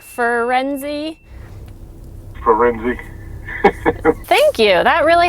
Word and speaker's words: Firenze: fur, like a dog, like Firenze.